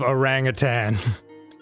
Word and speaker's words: orangutan: hole snake ass of orangutans who orangutan you said it right yeah too many years is to say tang we feel like a G on the end oh yeah as if